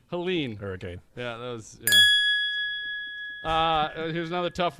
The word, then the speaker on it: Helene: Helen Pauline what was it how was it pronounced Helene hurricane yeah here's another tough one Michael American